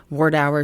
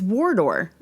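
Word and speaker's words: Wardour: Ward Hour Street. Put them onto 16 track cuz at that time Abbey Road only had eight track. It's Waror actually.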